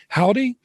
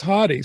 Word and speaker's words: Hauty: on pronouncing that correctly most people say howdy but it is hottie so i don't know